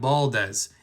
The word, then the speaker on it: Valdez: It's actually more like Baldez in um in Spanish.